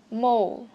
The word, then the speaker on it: mole: Đây các bạn thấy, mole, mole. Bật chữ L này ra cho mình nhé, phát âm chữ L uốn lưỡi một chút.